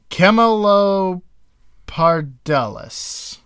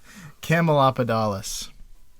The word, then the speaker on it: Camelopardalis: And the species is Camelopardalis. Camel leopard alis, because it's got spots and it looks camely.